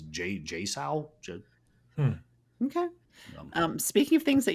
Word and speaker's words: JSAUX: JSAUX, but it's all caps. It is JSAL.